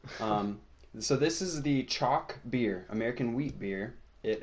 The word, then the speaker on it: Choc: might have heard of chalk beer uh it's not chocolate I thought it was